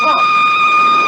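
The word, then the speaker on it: Froy: My name's Roy. You said Roy? No, not even Lee. Roy. I'm sorry, I can't hear. It rhymes with joy.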